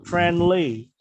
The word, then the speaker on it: friendly: And then friendly. And friendly. N-nya nggak usah dibaca.